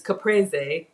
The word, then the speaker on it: caprese: which I learned it's caprese in Italian they actually pronounce every syllable so there are no silent E's I know sometimes people say Capri salad but um even